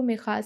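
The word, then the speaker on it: Mijas: जिसका नाम मिखा है सो इसके स्पेलिंग एम आई जे एस लिखे हैं इस विलेज के नाम के बुक में लेकिन स्पेनिश लैंग्वेज में इसको मिखा पढ़ते हैं उसका फादर कहता है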